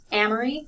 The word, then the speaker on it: Amory: stress certain syllables so my first name is amory so i stress the first one the second two are not stressed again first one